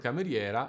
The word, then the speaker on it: cameriera: and unstressed monosyllable and the stress in the word "Cameriera" is the open E which is also the